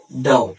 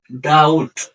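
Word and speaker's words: doubt: ডি ও ইউ বি টি ডাউট এইখানে বি আছে এই বিটা উচ্চারণ হবে না অর্থাৎ এই টি এর উচ্চারণ হবে তাহলে ডাউট ডাউট এখানে বি এর উচ্চারণ হয়নি এর অর্থ সন্দেহ নাম্বার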